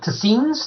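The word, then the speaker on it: Tseens: met a couple of tazins that's how I pronounce it t-s-e-e-n-s they're aliens that look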